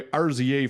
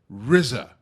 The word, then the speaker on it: RZA: It's RZA. It's the RZA from Wu-Tang Clan, not RZA. I can't damn pronounce it. RZA. RZA. Fine, well, that is how I would pronounce it if I wasn't.